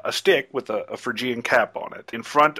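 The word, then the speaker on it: Phrygian: holding a a how do you say that Fagan cap it's it's Fran frian okay on the obers you have a hand holding a a stick with a a frian cap on it in front of an open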